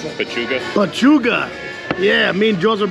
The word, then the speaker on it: pechuga: How do you pronounce it? Pechuga.